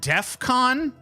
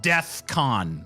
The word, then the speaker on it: DEFCON: life thinking that Defcon is pronounced deathcon oh my God